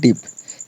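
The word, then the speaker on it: deep: टी एन 10 clear किसी वड में डबल ई आए तो डबल ई को इ से पढ़ते हैं जैसे डी डबल ई प डबल ई को हम क्या से पढ़ेंगे ई से पढ़ेंगे डी डबल ई प क्या हो जाएगा डीप एफ डई टी क्या हो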